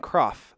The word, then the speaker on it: Croft: So our friend Ryan Croft, I would not have pronounced that correctly. Crapf. I would have pronounced it Crapf.